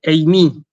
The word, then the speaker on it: εἰμί: Se dice eimi. ¿Sí? Fíjense que usamos un diptongo, ¿sí? Eimi se dice. Entonces, si yo quiero decir yo soy, ego eimi.